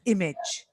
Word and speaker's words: image: at my end but the stress is on the first syllable so it's image image exactly so I think it